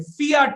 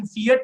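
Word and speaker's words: fiat: फियाट money, फियाट money मतलब कई लोग इसको यूके में मेरे ख्याल से प्रोनाउंसिएशन फिएट मनी बोलते हैं, अमेरिका में फियाट मनी बोलते हैं।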